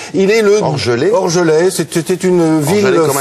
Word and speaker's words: Orgelet: Il est né dans le Jura, à Orgelet. Il est le Orgelet.